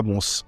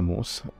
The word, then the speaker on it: Mons: Ça se Ouais, avec prononce. le S. À Mons. Ouais. À Mons.